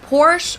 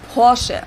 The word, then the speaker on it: Porsche: located in stutgart Germany I've heard Americans pronounce it Porsche or Porsche in German we say Porche so there's like this short a sound in the end Porche Nia is a German